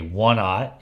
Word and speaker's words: aught: And it's spelled aught, A-U-G-H-T. Like, we ought to go down to Fred and get us some of them red minnows.